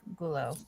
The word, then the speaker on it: Gullo: Gullo.